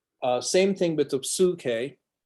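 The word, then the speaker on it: ψυχή: same thing with the suke suke uh is Seoul the oopsilon there as well okay is only ooh it's never y and again Dr Black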